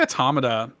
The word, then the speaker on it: Automata: to say this uh automata or automatic yeah I say automata because I because the way I think of it is it's like automaton right sure so I don't